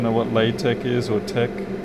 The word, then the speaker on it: TeX: that it's done in tech by the way that's spelt t x as in text but we pronounce it tech and then i usually